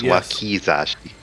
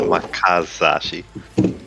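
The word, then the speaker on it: wakizashi: This Wii Zashi, not Wakazashi. Oh, really?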